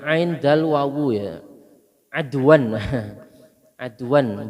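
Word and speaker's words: عَدْوًا: Adwan bacanya adwan Pak, jangan aduan. Kalau aduan maknanya musuh, bacanya adwan.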